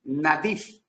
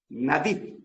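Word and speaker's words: נדיב: La palabra generoso en hebreo se escribe nadif. N A D I B. Nadif generoso.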